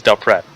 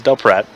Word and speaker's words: Del Pret: It is Del Pret. I know I pronounced it wrong earlier, but it is Del Pret.